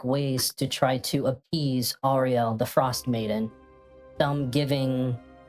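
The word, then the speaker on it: Auril: Other settlements have found less barbaric ways to try to appease Ariel, the frost maiden.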